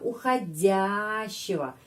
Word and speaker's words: уходящего: Di sini huruf O dibaca A. Kenapa? Karena уходящего. Penekanannya ada pada huruf Ya. Karena itu O ini pengucapannya A.